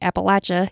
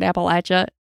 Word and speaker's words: Appalachia: We say Appalachia here in Appalachia, and others call it Appalachia.